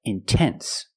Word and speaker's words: intense: stress after the NT if you have a stressed syllable after NT then you have to pronounce the T example intense I put the stress after the NT so I have to pronounce a t I cannot say in no it's intense or words like intensive intoxicated we have the stress after the NT we pronounce the T like a pure T TT release the sound